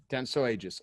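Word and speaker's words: Dentsu Aegis: how do you say it Stefan Denso Aegis Denso Aegis I was close Stephan consults speaks and writes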